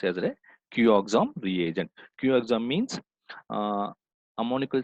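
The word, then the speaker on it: Cuoxam: as a qom CUO X XM it is pronounced as a q oxom reagent qom means uh ammonical Solutions of copper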